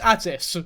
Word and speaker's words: Atis: It's not on you to prove Atis' innocence, that's on Atis. Look at me saying Atis and Atis in the same fucking sentence. I know it's Atis, for those wondering, but to be honest